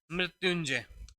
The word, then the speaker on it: मृत्युंजय: है, तो यहाँ पर इसका प्रोनाउंसिएशन होगा यहाँ पर ये। ठीक है, तो या के ऊपर अनुसार लगता है।